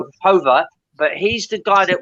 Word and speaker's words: Jover: His surname is spelled Jover, but I think he might be Spanish, so it might be pronounced Hover.